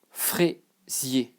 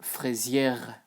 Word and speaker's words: fraisier: You don't say the R, okay? I hear so many times Americans saying fraisière, but no. The R doesn't exist here, sorry. Or I mean, it exists, but the combination of E plus R equal E. Frais. Fraisier, sorry. So, yeah, basically this and this have the same pronunciation. They are both E. ER is A, AI is A, okay?